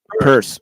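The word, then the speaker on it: Peirce: p it's horrible yeah purse purse okay yeah yeah it's pronounced purse yeah it's horri yes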